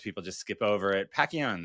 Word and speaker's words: Pacchione: Pacquion, that's how you say it.